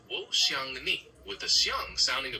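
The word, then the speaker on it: 我想你: To say I miss you in Mandarin, you would say Wo xiang ni. It's pronounced Wo xiang ni with the xiang sounding a bit like xiang with a rising tone.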